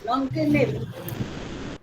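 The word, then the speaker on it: Nongkynrih: Nongkinri. Nongkinri. Okay. Nongkinri. Very difficult to pronounce.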